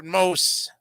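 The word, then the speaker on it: Mose: which is Valentine's Day as one of the most interesting blacko history facts the NAACP is America's oldest civil rights organization as well as its largest wow for most or for most is an important town in black history of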